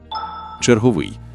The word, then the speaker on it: черговий: Вона пояснює, як змінюються слова, у якому складі правильно наголошувати це слово. Черговий. Наголос завжди падає на останній склад згідно з чинними нормами.